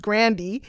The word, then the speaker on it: Grande: So I don't know if any of us are pronouncing his name correctly, because when we found out Ariana Grande's surname is actually supposed to be pronounced Grandy, that's what she said.